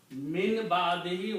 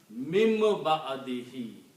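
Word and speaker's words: من بعده: comes before a ba, when a noon comes before ba, we pronounce this noon as a meme. That's the result, that little meme is there. Mim ba'dihi. The pronunciation will be mim ba'dihi with gunna.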